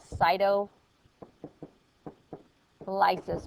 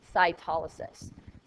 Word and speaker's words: cytolysis: animal cells rupture or lice this is called cyto Lis but it's pronounced cytolysis cyto means cell and Lis means to rupture